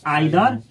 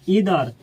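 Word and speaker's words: either: इसको पढ़ा जाता है आइदर, ईदर, नाइदर, नीदर, दोनों सही है।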